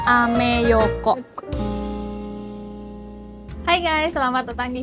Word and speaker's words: Ameyoko: Bacanya ameyoko.